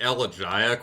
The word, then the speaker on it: Elegiac: friend uh so i i say it ella giac with a kind of soft g but i you know